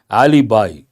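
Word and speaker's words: alibi: a l i b i how do you pronounce it alib not alib B Ali by false evidence yes bi that you have to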